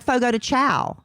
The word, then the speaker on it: Fogo de Chão: I I wish we just pronounced everything the way it was spelled. I would be much de like like Fogo de Chão.